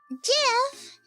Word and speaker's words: GIF: Oh, Jif. The creator says it's pronounced GIF. GIF. Then why spell it as a G if it's meant to pronounce as a J?